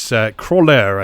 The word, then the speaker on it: Croixleur: Which is Croixleur, I think is how you pronounce it. Which is spelled Croixleur. The X is definitely silent.